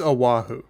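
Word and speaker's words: Oʻahu: Aahu. No, it's it's Aahu.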